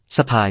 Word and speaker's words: สะพาย: ស្ពាយ (สฺพาย), ออสโตรนีเซียนดั้งเดิม *sapay การออกเสียง การแบ่งพยางค์ สะ-พาย สะพาย (คำอาการนาม การสะพาย) หมายถึง